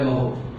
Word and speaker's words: mho: इसको महो भी बोलते हैं, MHO। पूरी फिजिक्स में एक ऐसी यूनिट है, तो -1 गया तो OHM था, MHO बन गया महो।